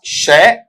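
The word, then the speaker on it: sure: इसमें देखो इस तरीके से आएगा शय, शय के साथ में यहां पर साउंड आ जाएगा कौन सा? ओ वाला। ये क्या बना? शो। तो यहां वाले पार्ट में ले लीजिएगा, शय, शय के साथ में क्या आएगा बेटा आपका वहां पर? ओ, क्या बन गया बेटा आपका शो।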